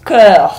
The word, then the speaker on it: cœur: Porque se você não quer falar nem corpo, nem Cairo, tem que falar Cœur. Então repete aí. Cœur, cœur, cœur.